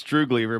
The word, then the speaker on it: Droogleever: to mispronounce your last name how do you pronounce it's true believer but if you wanted to be really fancy